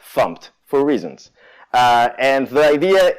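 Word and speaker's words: fmt: to the program here we're importing funked it's pronounced pumped for reasons and the idea is pumped contains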